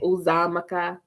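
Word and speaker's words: Uzoamaka: She kind of like dragged it out. It wasn't like Uzamaka. Like you don't want to sound like you're trying to phonetically pronounce it. So you want to get into it the way that they pronounce it.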